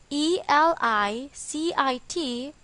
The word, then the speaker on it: elicit: it's pronunciation is elicit with the stress on the second syllable the second word elicit